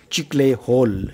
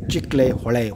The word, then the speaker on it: Chiklihole: this chiclet dam and many people pronounce very badly chick-lay-hole it is not a chickley hole but it is a chick-lay hawaii hawaii means in kannada